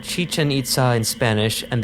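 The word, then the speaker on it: Chichén Itzá: the name is spelled chichen itza in spanish and the accents are sometimes maintained in other languages to show that both parts of the name are stressed on their final syllable other references prefer the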